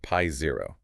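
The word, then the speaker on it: π0: pronounced pi0.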